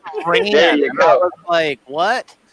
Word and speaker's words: Rainier: It's Rainier, as in like rainy. Yeah. That's how I explained it to him. No, it's Rainier.